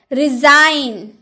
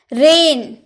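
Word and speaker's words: reign: रिजाइन, रिजाइन आप जी बोल रहे नहीं, रिजाइन, ठीक है, रिजाइन यानी कि त्याग पत्र। रेन, रेंज बोलते हैं नहीं ना, रेन, रेन यानी कि शासन।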